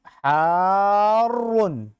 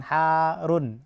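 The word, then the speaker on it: حارٌّ: Al-labanu harun. Nah, bacanya gitu ya, harun. Panjang, kemudian masuk. Jangan harun, harus ada tasydidnya.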